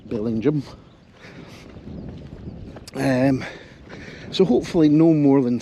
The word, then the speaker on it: Bellingham: It's a local pronunciation, so I better get it right, Bellingham.